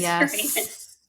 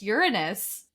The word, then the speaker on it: Uranus: Capricorn your Neptune and did you say Uranus I thought it was Urus it's my dad's gonna love that um yeah it's pronounced Uranus okay which like no school